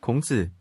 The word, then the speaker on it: 孔子: In Korean, it is pronounced, 공자, in Japanese, 講師 and in Mandarin. 孔子 But note that if we're talking about the philosophy of Confucianism, Confucius' name does not appear.